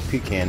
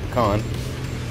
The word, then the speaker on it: pecan: Jersey or Oakland and we just call pecan not pecan I realize it's not the right pronunciation but I can I